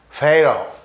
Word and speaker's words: fatal: A palavra fatal, em inglês, fatal, meio D, né? A pronúncia desse T.